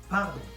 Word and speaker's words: pardon: So, pardon, not pardon or pardon like every English people try to pull off. Not pardon. You pronounce the R. You don't roll the R like you don't say pardon.